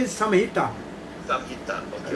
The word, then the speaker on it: Samhita: So how we pronounce it? Samhita or Santa?